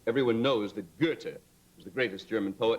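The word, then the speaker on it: Goethe: say everyone knows that Gerta is the greatest German poet and everyone honors his name the street name for him in Chicago which they pronounce gothi but yeah true we've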